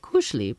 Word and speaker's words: kuschelig: Emma knew that kuschelig, pronounced kuschelig, is Norwegian for cozy.